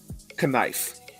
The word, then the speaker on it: knife: I hate Columbus Day as much as I hate the word knife. Why is the K silent?